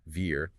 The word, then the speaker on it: vier: Pay special attention to the pronunciation of zwei with that sharp TS sound, wir, the F sound, and of course the tricky 12.